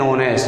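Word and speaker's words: honest: ये चालू तो व्यंजन से है, लेकिन इसका उच्चारण होनेस्ट को अपन पढ़ते हैं तो इसका उच्चारण हिंदी के ओ के समान है। Ramu is एन ऑनेस्ट।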